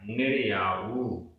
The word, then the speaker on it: निर्याऊ: असुहादो, असुहादो, निर्याऊ, निर्याऊ, आखिरी में जो ऊ है वो बड़ा है, निर्याऊ।